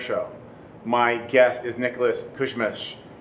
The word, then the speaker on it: Kusmich: guest is Nicholas Cushman I always want to make sure I pronounced that right so I want to I want to actually want you to tell the audience exactly how you pronounce your last name Nicholas Kuzmich yeah I was close so close i butchered